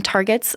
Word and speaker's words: TRGT: For analyzing the complex data from targets like repeat expansions, PacBio provides specialized tools. The Tandem Repeat Genotyping Tool, or TRGT, pronounced target, takes the aligned hi-fi reads as input.